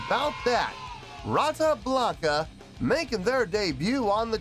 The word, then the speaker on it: Rata Blanca: the channel tonight tonight we have oh my pronounce this name right brata Blanca yes indeed how about that rata Blanca making their debut on the channel before we